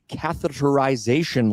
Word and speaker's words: catheterization: it with me, cardiac catheterization labs. Catheterization, that's six syllables in one word.